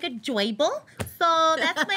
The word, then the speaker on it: Joybull: My name is Joyble, and I got my name because people said I was cute like a Joyble, so that's my name. It's spelled J-O-Y-B-U-L-L. It's Joyble.